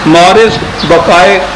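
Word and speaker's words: Maurice Bucaille: یہ ڈاکٹر ہے, یہ فرینچ نیم ہے, شاید اس کے تلفظ ایسا صحیح نہ ہو. مورس بقائے اس کو کہتے ہیں کہ یوں پڑھنا چاہیے, اگرچہ وہ MAURICE ہے اور وہ اگلا ہے BUCAILLE.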